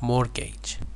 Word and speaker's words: mortgage: with here we have mortgage remember that t is not pronounced here mortgage my family was